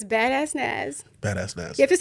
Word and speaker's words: Badass Naz: of all you have to say my name badass naz bad ass nas it's badass naz bad ass nasty you have to say it's